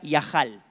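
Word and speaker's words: יחל: Una se pronuncia Yahal.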